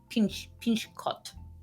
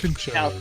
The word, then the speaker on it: Pinchot: Yep, it ran for 8 seasons from 1986 to 1993, and yeah, Bronson Pinchot was Pinchot. That's Pincho. Pincho. That's it?